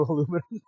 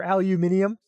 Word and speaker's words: aluminium: scer hey scrotum you'll never convert me to aluminum or aluminium no even even I can't uh even I can't do aluminium it's aluminum for me it's been aluminum for years you hear both versions all the time yeah Alex I bet